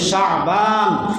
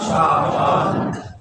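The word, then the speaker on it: شعبان: এবং জানার চেষ্টার জন্য সবাই সহি ভাবে শুদ্ধ ভাবে উচ্চারণ করি শাবান শাবান শাবান শাবান আমরা ইংরেজি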